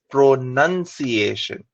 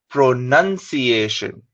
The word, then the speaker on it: pronunciation: The stress is on the second part of the word, pronunciation. The base word is pronounce. So many people say pronunciation, but the correct way is pronunciation.